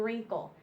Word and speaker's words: wrinkle: just hear R and wrinkle the W is silent here you don't hear it at all so w r says